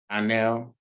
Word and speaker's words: Dionell: Okay, so you pronounce it with, like you didn't have an I, it's Dionell. Dionell. Okay, and how are you pronouncing it? Dionell.